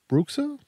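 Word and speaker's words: bruxa: on stuff um and the song is called brooka what b r u x a yeah did I spell it right did I say it right yeah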